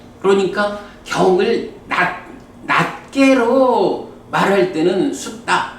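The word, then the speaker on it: sutta: 이게 영어하고 발음이 조금 달라. 그러니까 이게 이제 영어로 보자면 니카야가 될 거고 숫타가 되겠지. 그런데 나중에 우리가 한번 보겠지만 요 발음이 왜 국제적으로 그 영어 발음하고 다르게 알파벳이 국제 발음 기호 이런 게 있지. 그 발음에 따라서 발음을 하거든. 그래서 니까야가 되고 숫다가 돼.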